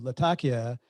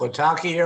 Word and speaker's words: Latakia: Well, the name comes from Syrian port Latakia. Name of the city, name of the port is Latakia.